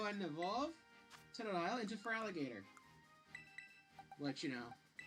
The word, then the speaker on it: Feraligatr: So they had to improvise and just remove the O, so that way it's still pronounced Feraligatr, but it looks a bit stupid.